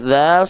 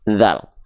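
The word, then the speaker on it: ذال: Ketika dia belum berharokat, namanya adalah huruf dzal. Jadi jangan sampai teman-teman bilang ini huruf dza. Tidak ada huruf hijaiyah yang namanya huruf dza.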